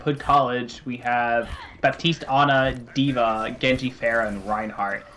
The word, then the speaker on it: Ana: Is it Ana or Ana? It's Ana.